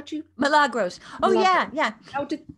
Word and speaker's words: Milagros: Michelle asks, she loves Jane's, and I don't know how to pronounce this. Is it Milagros? How do you? Milagros.